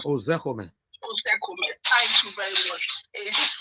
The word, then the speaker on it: Ozekome: Can you help me pronounce that name, please? Mike Ozekome. Ozekome.